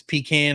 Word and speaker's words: pecan: It's pecant. It's pecan or pecan. There's only 2 ways to say it, Ben.